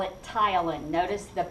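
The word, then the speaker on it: ptyalin: you can call it Tylen notice the p is silent Tylen and the Y is pronounced like a long eye tile and is another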